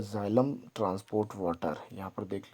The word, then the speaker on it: xylem: तो यहाँ पर सबसे पहले जाइलम देख लीजिए, इसकी स्पेलिंग XYLEM, जाइलम।